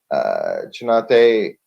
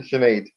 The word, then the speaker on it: Chanate: going up to um chinate I know I'm mispronouncing that my apologies sh chenet thank you thank you shenet um that that ends